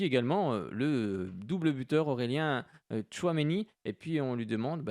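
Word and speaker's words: Tchouaméni: Un doublé signé Aurélien Tchouameni. On le prononce en 2 fois, hein, pas forcément évident. Tchouameni, en tout cas un sacré joueur.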